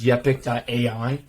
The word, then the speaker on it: Yepic: I'm going to assume it's pronounced Yepic.ai.